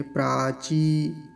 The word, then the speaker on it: प्राची: शब्द है प्राची प्राची प्राची में दीर्घ ई का है की मात्रा है तो बड़ा ध्यान से उच्चारण करेंगे प्राची नहीं तो कई बार